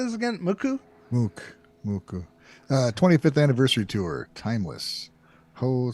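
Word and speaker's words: MUCC: Mook. How do you say this again? Muku? Muku.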